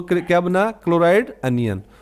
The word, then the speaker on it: anion: ये समझाने के लिए, तो अनायन बोलते हैं इसको, अनायन, अन आयन बोलेंगे, क्या बोलेंगे इसको, बोलेंगे अन आयन, अनायन बोलेंगे इसको, अनायन। ठीक है, इसका प्रोनाउंसिएशन अनायन होगा।